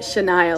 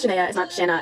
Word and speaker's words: Shania: how you pronounce it Shania like Shania Twain it's not Shana it's Shania I guess I could